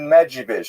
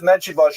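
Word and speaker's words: Medzhybizh: Medjugorje is the current Ukrainian pronunciation. You may have seen the Polish pronunciation, Medjugorje.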